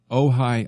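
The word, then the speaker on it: Ojai: let's go out to ohigh I I suppose it's uh pronounced ohigh California talk to Trey that's correct Trey welcome to the narrow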